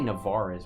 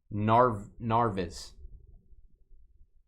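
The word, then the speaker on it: Narváez: I want to say Navarez. Why don't I say Navarez? It's Narvez. Arviz.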